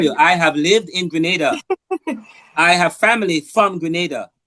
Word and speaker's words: Grenada: No, it's just pronounce Grenada like that. Grenada. That's how Caribbean speakers pronounce Grenada.